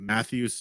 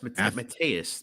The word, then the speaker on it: Matthias: right this first name Matthews nicoloa uh what are you looking at oh that's Matthias bro you don't know how to pronounce Matthias this is probably